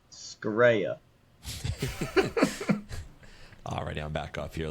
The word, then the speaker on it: Scirea: Can we get an authentic Italian pronunciation? Yes. Scirea.